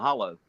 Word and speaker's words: hollow: I don't live in a holler. I live in a hollow because that's how it's spelled.